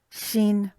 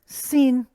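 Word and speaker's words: שׁין: then it's pronounced sh, shin. If it has it at the left of that letter, it's sin. And if it has no dot at all, it follows the shin, shin sound.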